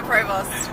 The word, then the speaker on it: Provost: How do I pronounce it? Provost.